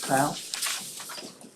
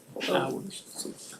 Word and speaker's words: Powers: Powell? Powers. Sorry, got your name wrong.